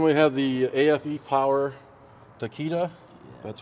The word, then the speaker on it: Takeda: So then we have the AFE Power Takeda. That's how you pronounce that?